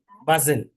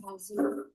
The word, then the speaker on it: bustle: There was a lot of noise and bustle Buzzle. T is silent there. and bustle as children kept jostling and talking to each other.